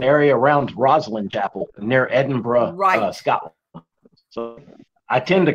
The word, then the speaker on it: Edinburgh: Specifically, in the area around Roslyn Chapel near Edinburgh, Scotland.